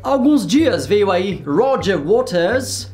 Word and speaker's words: Roger Waters: Há alguns dias veio aí Roger Waters, sim, essa é a pronúncia inglesa, e segundo a direita